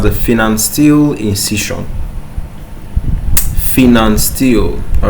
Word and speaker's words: Pfannenstiel: Finance steel. All right. The P is silent. Okay. Finance steel. Fen steel in incision.